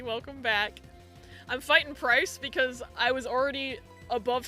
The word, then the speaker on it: Pryce: It's because his name rhymes with ice. Pryce got the best redesign.